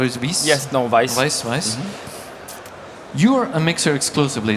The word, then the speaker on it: Weiss: So, the youngest in the round, Monsieur Weiss, is that the way to pronounce it, or is it Weiss? Yes, no, Weiss.